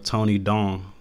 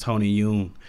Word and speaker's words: Tony Dong: I may actually like to see him compared to a guy like Tony Dong, who was actually pronounced Tony Yoon.